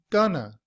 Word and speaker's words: going to: In reduced form, we do not say going to. Instead, we pronounce those words together as gonna.